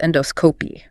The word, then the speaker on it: endoscopy: Or they might need an endoscopy, pronounced endoscopy. Stress on the dos.